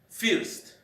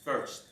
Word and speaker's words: first: make that sound because in Spanish the letter I we pronounce like fists but the correct pronunciation is first also another word is